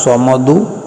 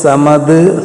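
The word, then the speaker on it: صمد: സ്വമദ് എന്ന് പറയുന്ന ആയത്തിലുള്ള സ്വമദ് അതുപോലെ ചൊല്ലണം അതുപോലെ സ്വമദ് സമദ് ഹമദ് ഷമദ് ഇങ്ങനെ മഹ്റജ് ഉച്ചാരണം മാറിപ്പോയാലും അതിന്റെ ഫലം അതിന്റെ ഗുണം ലഭിക്കുകയില്ല സ്വാദ് അപ്പോ സ്വമദ് എന്ന രൂപത്തിൽ പറയുകയാണ് ചെയ്യേണ്ടത് ഇങ്ങനെയാണ് ആദ്യമായി അറിയുന്ന മൂന്ന് സ്വലാത്തുകൾ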